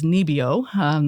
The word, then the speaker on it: NIBIO: Yeah, so the institute is abbreviated as NIBIO. That's how it's pronounced in Norwegian.